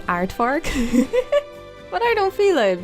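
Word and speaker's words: aardvark: Next up is the artfarks habitat.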